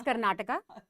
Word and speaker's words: Karnataka: first up I think let's get the pronunciations out of the way it's Karnataka it's kannada Canada and it's Canada so the a is very important and I think just